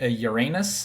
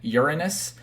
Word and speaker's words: Uranus: the first of which everyone laughs at being Uranus or the cor the correct pronunciation being Uranus but I will still